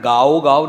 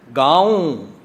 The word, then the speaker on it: ਗਾਉ: पंक्ति कह रहे हैं, इसका उच्चारण गाओ गाओ नहीं करांगे। गाओ होंदा थर्ड परसन नूं ऑर्डर करना। गाऊं कबीर साहब कहते हैं मैं गाऊं गाऊं गाऊं गाऊं री दुल्हनी।